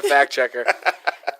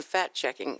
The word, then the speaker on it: fact checker: You always got a fact checker. And please pronounce that correctly. Fact. Fact checker. Yeah, because it always sounds like you're saying fat checking.